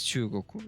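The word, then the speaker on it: 中国: how they say it it is chugoku isn't that true is that is that not true it is it is that g at the goal is a little bit more is a little bit soft it is you are right don't worry about it long oo uh soft g kind of stuff it's a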